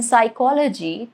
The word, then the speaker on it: psychology: Or why is the P in psychology totally silent?